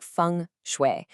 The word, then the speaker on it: Feng Shui: You say it like Feng Shui, and it's this amazing 5,000-year-old art of placement.